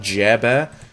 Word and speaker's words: Jarebear: By the way, I pronounced his name completely wrong. He corrected me. It's Captain Jarebear.